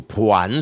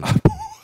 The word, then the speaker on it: 보완: 그런 거냐 이 정확하게 발음을 안 알아두시고 보안 수사라고 하시는 분들 있지만 보완 보완입니다.